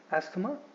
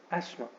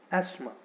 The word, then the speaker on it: asthma: when you are speaking English, you should not pronounce this word as asthma. Instead, आपको बोलना चाहिए asthma. Okay, it is asthma.